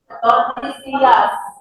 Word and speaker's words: Tordesillas: Tordesillas. You pronounce this as right.